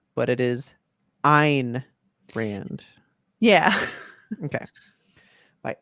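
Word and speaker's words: Ayn Rand: Anthem by I always thought her name was an Rand but it is Ein Rand yeah okay by Ein Rand right is it pronounced a that's why I've always said it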